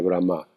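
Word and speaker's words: Brahmā: Vean el acento en la este acento es muy importante porque si tiene el acento en la primera parte es el Dios neutro o la deidad neutra o o el logos neutro.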